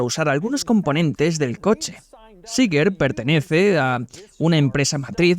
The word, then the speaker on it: Czinger: Seeger, escrito con C Seeger, aunque se pronuncia Seeger, y el nombre proviene de los fundadores de la empresa.